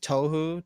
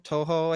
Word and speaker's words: Touhou: great soundtracks yeah yeah you ever heard of touhou touhou i think it's how you pronounce it but it's like an indie game